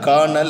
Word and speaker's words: colonel: Adha dhaan colonel appdinu solli solluvom. You see the spelling pa. C-O-L-O-N-E-L. But you have to pronounce as K-I-R-N-I-L. Colonel. Here L is silent and there must be a sound of R.